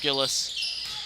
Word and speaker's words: Gillies: Okay, Gillies was pronounced Gillis.